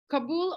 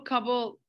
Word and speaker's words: Kabul: Did I pronounce Kabul correctly, or is it Kabul, Afghanistan? Kabul or Kabul is good. I've heard both.